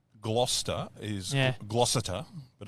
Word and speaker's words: Gloucester: But no, it's spelled Forster. The English language is just, honestly. It's like Gloucester is Gloucester, but it's Gloucester.